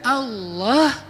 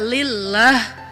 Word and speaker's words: Allah: Hilangin alifnya, tinggal lillah. Artinya milik Allah. Hilangin lam pertamanya, bacanya lahu, milik dia, yaitu Allah. Hilangin lam keduanya, tinggal hu, dia satunya, yaitu Allah juga. Jadi tetap bermakna Allah.